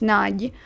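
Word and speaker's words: Nagy: All I know is the most common last name in Hungary is Naj and it's pronounced Naj.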